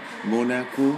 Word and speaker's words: Mónaco: Y ahora la misma ciudad en español, Mónaco. Con acento en la O.